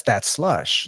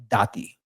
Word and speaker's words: Dat Slush: It's spelled DAT with dat. Mm-hmm. And I had an exclamation point, true story, with the logo, but people kept saying Dati. It was like daddy.